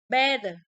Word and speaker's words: better: So if for letter T, for between two vowel sound with the voice, so if we fall a middle of vowel, and the T is pronounced as a D, and the whole word is voice.